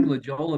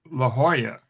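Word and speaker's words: La Jolla: I always pronounce it La Hoya. I kind of like Leola better. Well, it's supposed to be pronounced La Hoya. That's proper pronunciation. And the locals in California pronounce it that way.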